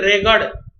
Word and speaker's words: रेगड़: Actually the word is रेगड़, not रेगूर, लेकिन अब हम लोग इसका प्रोनाउंसिएशन करते हैं रेगूर, लेकिन एक्चुअली जो हिंदी वर्ड है इसके लिए वो है रेगड़ मिट्टी।